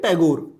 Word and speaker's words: ठाकुर: आप लोग बोलते हैं टैगोर। लेकिन चूंकि ब्रिटिशर्स उनको ठाकुर नहीं बोल पाते थे, वो प्रोनाउंसिएशन नहीं कर पाते थे, तो प्रोनाउंसिएशन ना कर पाने के कारण वो टैगोर हो गए, ठाकुर से टैगोर।